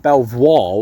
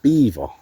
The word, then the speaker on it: Belvoir: It's You'd pronounce it Belvoir with it being spelled like that, but it's actually pronounced Beaver.